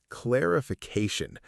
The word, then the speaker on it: clarification: Clarification. C-L-A-R-I-F-I-C-A-T-I-O-N. It means the act of making something less confused and more easy to understand. Say it slowly with us. Clarification. Clarification. It's a long one, 5 syllables.